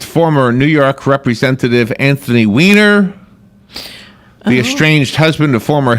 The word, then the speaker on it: Weiner: It's pronounced Weiner.